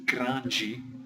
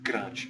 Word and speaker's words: grande: Now in some places of Brazil they have two syllables, grande, and in other places they have grande, which is just one syllable. Most of the time they use the one syllable, but if you use either, no one's going to care.